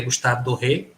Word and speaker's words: Gustave Doré: como o pessoal fala, acho que dizem a pronúncia certa, que é Gustave Doré, mas eu falo Doré.